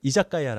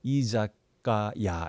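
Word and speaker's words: 居酒屋: 이런 거를 야라고 발음합니다 그래서 이사가야돼 이사가야 이사가야 다가 발음이 편하게 이자까야 이렇게 발음이 된 겁니다 결국이이자 가야는 뭐냐면 앉아서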